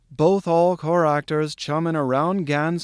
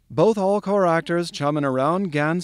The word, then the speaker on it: Bothallchoractorschumminaroundgan: there it is constituting its very own paragraph in the dead center of the book and here it is both all core actors chumming around gans some um in a rum drum strum trump